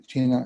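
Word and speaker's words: 气: en la medicina china, en la cultura de China, en la cultura oriental, se conoce como chi. Se escribe, en chino se escribe kui, se pronuncia chi, en japonés se pronuncia ki.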